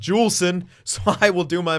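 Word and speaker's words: Juulsen: soft J but apparently he's Canadian and it's pronounced jewel s'en so I will do my best to remember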